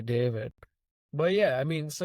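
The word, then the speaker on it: D4vid: For example, all the stuff that this artist David, it's a D4, his name is spelled D4 VID. So it goes by David.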